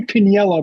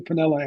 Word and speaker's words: Piniella: So Lou Piniella became Lou Pinella after a while.